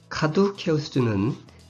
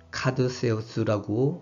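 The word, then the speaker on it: Caduceus: 카두케우스는 고전 라틴어식 발음이라 오늘날 로망서군이나 영어의 관례에 따라 카두세우스라고 하기도 합니다.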